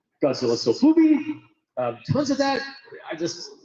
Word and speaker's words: Sofubi: Godzilla Sofubi.